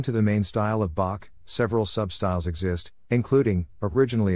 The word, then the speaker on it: Bock: to their bavarian accent citizens of munich pronounced ein becca's einbach and thus the beer became known as bach as a visual pun